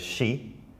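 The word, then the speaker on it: 四: It's actually considered an unlucky number in Japan because it can also be read as shi.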